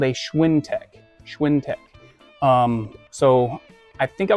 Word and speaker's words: Schwintek: Schwintech.